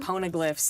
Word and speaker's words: poneglyph: I mean, I remember directing you and, talking about poneglyphs and large page-long diatribes from Robin about poneglyphs. Poneglyphs. And then Corn pone. Yeah, yes, that is how we remembered how to say it, corn pone.